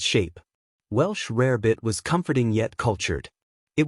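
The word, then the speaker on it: rarebit: This dish, pronounced rare bit, had crossed the Atlantic from Britain.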